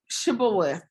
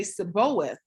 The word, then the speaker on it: Shibboleth: If the men said, no, I'm not, they would tell him to say Shibboleth. If he was from Ephraim, he would say Seboeth, because the people from Ephraim cannot pronounce the word correctly.